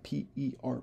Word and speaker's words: per: so that the capital p e r protein is derived from the MRNA which is made from the capital P lowercase e r Gene right but we would pronounce it per for either and so taking a